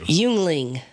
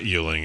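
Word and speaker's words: Yuengling: it first and then I will correct you yungling what is it yungling Yingling Yingling there it is how is y u e n g l i n g uling it's not uling it's Yingling Yingling when I think it's Yingling is would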